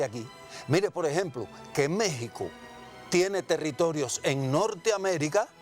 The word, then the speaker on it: México: la palabra por tanto méxico se pronuncia con jota pero se escribe con equis porque esa era la forma de hablar de los aztecas bueno si usted quiere